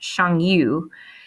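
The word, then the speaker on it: Xiongnu: n g n u word that actually is pronounced shangyu they are the precursors to the mongols okay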